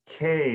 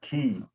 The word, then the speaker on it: que: this, it's K, not key. So, ate K. Mm-hmm. So just like the letter. Ate K os 1000 anos. Exactly. So it's kind of like how we pronounce the letter K in English.